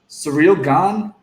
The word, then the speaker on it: Ciryl Gane: I didn't see the line previously, but Ciryl Gane, I believe is how you say his name.